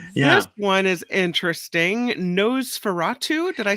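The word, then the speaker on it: Nosferatu: on the list yeah this one is interesting nose feratu did I say it right yeah NOS Fatu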